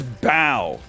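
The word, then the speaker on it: bough: okay um you know r-o-u-g-h obviously that's rough you'd have to be an idiot to not know that b-o-u-g-h oh that's bao why because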